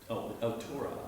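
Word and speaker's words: תּוֹרָה: Okay, and the holam vav is pronounced O. O. So that first syllable is To.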